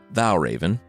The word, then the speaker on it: Valravn: FM the creature this week is The Vow Raven from Danish folklore before we get started Val Raven it's spelled without the e By the way Val